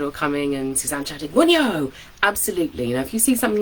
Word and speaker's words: Wunjo: and an emoji, and you can also shout Wunyo, which is the rune of joy. It looks like in modern English we would probably pronounce it as Wunjo, would be the way that we would look at it.